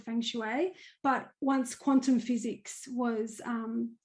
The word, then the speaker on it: feng shui: So the other thing is you're a I hope I'm pronouncing it right. Feng Shui, is that how you Yes, pronounce it? that's correct.